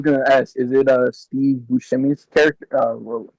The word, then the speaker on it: Buscemi: I was gonna ask, is it Steve Buscemi's character? Well, how you say his last name? I probably butchered Oh, his Steve last name, but Buscemi.